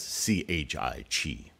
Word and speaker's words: qi: again sometimes translated as c-h-i-t you might be tempted to say chai but it's pronounced Chi I was introduced to